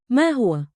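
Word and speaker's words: ما هو: Pro tip. Smile slightly on hua. It helps you round the vowel.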